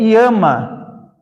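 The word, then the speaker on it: ἴαμα: Cura, no grego, é iama.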